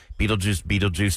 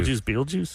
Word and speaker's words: Beetlejuice: Beetlejuice. It's not spelled the same. It's spelled Betelgeuse. It's Betelgeuse. yeah, that's Betelgeuse. in the That's how you movie. actually say Beetlejuice.